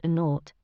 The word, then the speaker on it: naught: were supposed to call the zero in the telephone number he pronounced naught the number was 2br002b